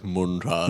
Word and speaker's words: munted: But you say it like Müntard. Müntard, like in a munted way.